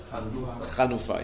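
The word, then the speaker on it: חנופה: But that is called chanifa. Chanufa. How do you say it? Chanifa? Chanufa. Chanifa? Ma? Chanufa, yeah.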